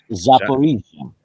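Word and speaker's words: Zaporizhzhia: Multiple Russian missile strikes shook the city of, pronounce that one for me. Zaporizhia.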